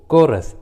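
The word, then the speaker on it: chorus: का उच्चारण नहीं करते, जैसे इको, कोरस, क्रिसमस। देखिए तीनों इंग्लिश वर्ड्स में एच सी के बाद आया है, इसलिए रूल के अनुसार एच का उच्चारण नहीं हुआ है, एच साइलेंट है।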